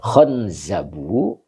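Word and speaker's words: Khanzab: Dan nunnya itu disukun. Makanya tadi khon ya. Oke. Baru oh ini kama filqamusi sebagaimana ada di dalam kamus. Jadi ee khonzabu ini bacanya begitu. Khonzabu itu sesuai dengan yang ada di kamus.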